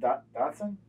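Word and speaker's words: dachshund: to do a Davidson you're saying it like you're German you're trying to say it like a German no I didn't say that isn't it Dotson there you go all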